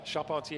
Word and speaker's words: Charpentier: Charpentier is how it would be pronounced in French. So yeah, I like to keep it au naturel. But yeah. See, I just learned something new. He's Charpentier is a woodworker, so he's carpenter.